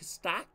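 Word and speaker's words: Stach: and I got stack stack is how you pronounce his name the German Center mid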